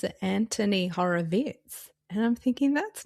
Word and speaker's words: Horowitz: So, I think I just saw on the internet he pronounces it Anthony Horror Vitz and I'm thinking that's not okay.